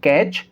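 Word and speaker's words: catch: अगर आप ध्यान से यहाँ देखेंगे तो यहाँ TCH है और यहाँ भी TCH है, तो इस कंडीशन के अंदर भी टी साइलेंट होगा। ठीक है, तो हम इसको क्या पढ़ेंगे? कैच, वैच।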